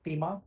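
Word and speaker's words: Thieme: It's pronounced as a TEMA, it's a German name.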